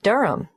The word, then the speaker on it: Durham: At 1 Yoronga Street, Durham. How do you spell Durham? D-U-R-H-A-M. Of course, I should know that. But it's just one of those names that sounds quite different from the way you spell it.